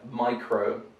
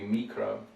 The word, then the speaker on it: micro: So we have micro, whereas in Russian it would be mikro or mikra. So stuff like microscope, microscope. So in Russian the sound is different, the vowel sound.